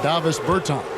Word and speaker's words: Davis Bertans: Oh, well now, at this point in my life, it's Davis Bertans. Is that how you say his name? Yeah. Davis Bertans.